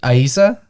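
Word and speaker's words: Eiza: This is a serious name. Yeah. Okay. Go ahead. I just want to know if you're joking or not. I It's pronounced Aisa.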